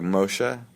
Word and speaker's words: Moshe: i say a real person would say like moshe do you hear the subtlety of that yeah yeah it's at the end yeah yeah yeah kind of moshe damn man your eyes are really nice i've